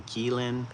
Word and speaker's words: qilin: It is called a kirin or a kein in Japanese or Chinese.